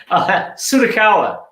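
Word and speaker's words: Tsutakawa: Please, please, please correct me on pronouncing your name. I'm so sorry. Oh, it's all right. Sudakawa.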